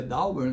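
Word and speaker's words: Dowbor: Eu peguei o artigo do Ladislau Dauber, se pronuncia Dauber, mas é D-O-W-B-O-R, né? Dauber.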